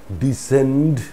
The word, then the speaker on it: descend: us the same pronunciation so here c is silent now where d is